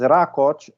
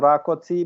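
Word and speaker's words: Roth: my impression is that the exact pronunciation is rot and not rotti because rot U adopted this English spelling for maybe an original Hungarian name rot but it will be pronounced rot like Professor Peter pronounced thank you just uh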